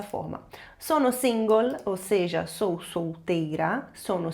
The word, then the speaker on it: single: Essa palavra single a gente viu na segunda aula e você se lembra que se pronuncia dessa forma. Sono single, ou seja, sou solteira.